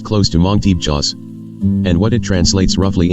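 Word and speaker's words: Tebchaws: It looks like Hmong Teepchas, T-E-B-C-H-A-W-S, but pronounced close to Hmong Teepchas.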